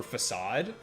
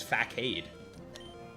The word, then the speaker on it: facade: Pokemon taught me how to pronounce so many words, like a soft C for facade. I didn't know that as a kid. I read it as facade.